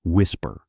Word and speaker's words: WSPR: A technology called WSPR, pronounced WHISPER.